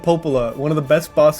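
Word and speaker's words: Popola: up don't don't say the words if you don't know how to say it I don't did I say it wrong yes it's DEA and Popa one of the best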